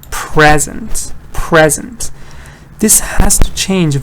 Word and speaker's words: present: Here the vowel is changing. So I'll read it again. Present, present, present, present. This vowel change is important.